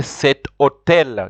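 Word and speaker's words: cet hôtel: For example, you can't say home, you have to say cet homme. Just like the word hotel, you have to say cet hotel.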